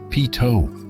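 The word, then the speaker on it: Peyto: Just don't be surprised if you hear its name pronounced a few different ways. PTO may be the correct version, but PO remains popular among locals and travelers alike.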